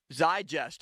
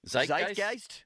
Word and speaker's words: Zeitgeist: also does feel like his affinity for Pittsburgh should be back in the Zigest. Is that the correct pronunciation of that word?